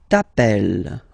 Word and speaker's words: t'appelles: Alright, second form, tu t'appelles. Okay, remember, final S not pronounced.